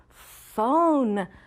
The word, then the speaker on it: phone: Phone is spelled P-H-O-N-E. Remember, the P-H is a digraph that we learned last week. The O, consonant, silent E is a long vowel spelling pattern that we learned, and phone had the N at the end.